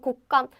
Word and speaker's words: 곶감: Okay, so not and 곶감. The pronunciation is simple because it sounds exactly the same as the previous ones, right?